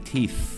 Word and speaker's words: teeth: Nappy ก็จะเป็นสายอังกฤษครับต่อไปนะครับการแปรงฟันหรือยาสีฟันแปรงสีฟันพวกนี้ชาวไทยมักจะเข้าใจผิดกันบ่อยๆแปรงฟันเนี่ยนะครับต้องเป็น brush teeth นะฮะออกเสียง teeth นะฮะเพราะบางคนออกเสียง brush teeth บางคนก็ออกเสียง brush tits นะครับ brush tits เนี่ยเดี๋ยวอาจจะเป็นการแปรงนมของตัวเองได้นะครับสาวๆต้องออกเสียง teeth นะฮะให้ปลายลิ้นมาแตะฟันบนซะหน่อยนะครับสำหรับ th brush teeth brush my teeth brush